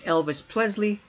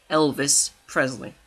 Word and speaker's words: Elvis Presley: was made groovy and kingley to be like Elvis pleasley to pay homage to Elis pleasley I'm spaying his name completely wrong Elvis Presley there we go can I say it right